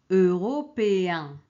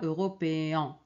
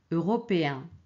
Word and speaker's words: européen: qu'on prononce un alors regardez ici européen ce n'est pas européen ok avec e n européen examen examen ok bien